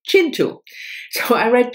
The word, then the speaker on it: Kintu: this author, which I, for years and years, pronounced Kintu, And Kay, thank you very much, Kay, finally, in my last video when I hold this book, told me that it's actually Chintu.